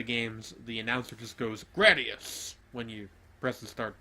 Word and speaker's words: Gradius: Also, I like that you pronounce it with a short A.